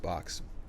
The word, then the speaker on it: XOB: It's spelled XOB, but it's pronounced Box, just because.